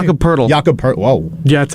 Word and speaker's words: Jakob Poeltl: Jacob Puddle, however you say his name? Jakob Poeltl.